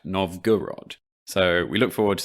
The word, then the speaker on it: Novgorod: this week we should apologize for a slight mispronunciation of the word or town novgorod i think we spent all of the last episode saying no vogue rod when it's in fact novgorod so we look forward